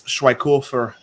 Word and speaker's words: Schweighöfer: And hey, this guy next, the locksmith is Matthias, but it's Schweighöfer is how you say his name.